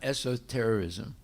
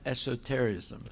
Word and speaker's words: esotericism: of western esoterism no that's not the way you pronounce that word it's not esoterism no it's so terrick no esotericism it's esotericism no okay here okay go